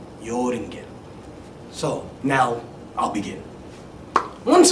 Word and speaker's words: Joringel: with a J but in Germany and in Scandinavia J is pronounced like a y yinda yoring so now I'll begin